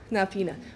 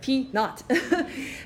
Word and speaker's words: P naught: It's not peanut, but P naught.